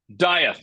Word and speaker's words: Dieth: pronouncing that right? Dieth, dude, Dieth.